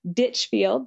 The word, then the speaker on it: Ditchfield: t i n ditchfield just like a ditch and a field so it's ditchfield